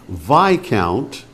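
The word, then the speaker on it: viscount: points now for ten vi count a noble rank below an earl and above a baron its third letter is silent vi all count v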